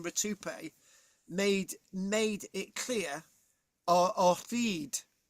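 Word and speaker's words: Rutupiae: It's spelled R-U-T-U-P-I-A-E. That's Rutupe.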